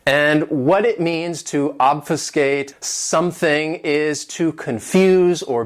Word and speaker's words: obfuscate: This verb has 3 syllables, and the stress is on that first syllable, obfuscate. And what it means to obfuscate something is to confuse